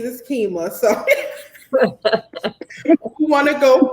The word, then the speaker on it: Qimmah: yay okay so uh my name also is pronounced keema it goes well my